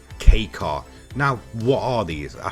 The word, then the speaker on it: kei car: K car class now a lot of people do miss I guess pronounce it as key car but the real pronunciation I'm pretty sure of is K car now what are these